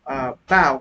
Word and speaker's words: bow: Now, for example, bow, it sounds like the ow in cow, while blow sounds like the o in crow.